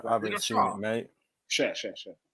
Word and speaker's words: Schär: Share. It's a fantastic show. It's spelled Schär with a little umlaut, meaning share.